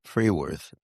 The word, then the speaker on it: Fruehwirth: Freeworth. And I'm going to spell it for everybody.